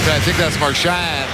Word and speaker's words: Marchand: Right there, I think that's Marchand. They want to pronounce it Marchand, although it's a French name.